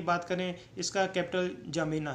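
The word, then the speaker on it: N'Djamena: और इसकी कैपिटल की बात करें, इसका कैपिटल जमीना है। डी एन जे के डी से शुरू होता है, लेकिन जमीना बोला जाता है इसका, बाकी अक्सर साइलेंट रखा जाता है।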